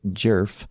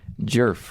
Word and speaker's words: Djerf: But in doing the research for this case I learned that that D is silent. It's jerf. Not a lot of vowels. No, she's got the one jerf. Richard jerf.